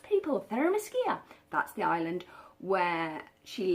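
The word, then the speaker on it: Themyscira: where we started off on the island with Aramis Kia yes that's how it's pronounced people fairness Kia that's the island where she lives with her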